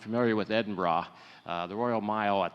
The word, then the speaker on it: Edinburgh: That's how they say it over there. It's not Edinburgh, it's Edinburgh.